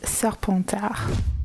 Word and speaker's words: Serpentard: d'Aigle, Hufflepuff, Pouf Souffle, and Slytherin, which is Serpentard.